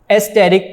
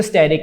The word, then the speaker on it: asterisk: Spelling इसके हैं ASTERISK, एस्टेरिक वैसे बनता है लेकिन पढ़ते इसको स्टेरिक है, ए यहाँ साइलेंट है, ठीक है।